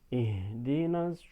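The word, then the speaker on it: اهدنا: Berikutnya ihdinas siratal mustaqim. Ihdina haknya ya, haknya ini betul-betul ih. Jadi jangan sampai tanggung.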